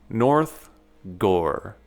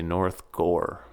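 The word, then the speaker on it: North Gower: We live in Ottawa's rural gem, North Gore. And that's pronounced gore, like gore in a movie.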